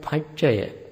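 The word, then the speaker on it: paccaya: How do you spell that? Parato Ghosa, P-A-R-A-T-O G-H-O-S-A. Then we have to add Pachaya, P-A-C-C-A-Y-A.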